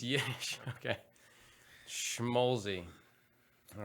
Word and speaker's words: Schmolze: have with me nathan how do you say your last name schmaltzy schmolzy schmolzy there's no tea no tea chicken fat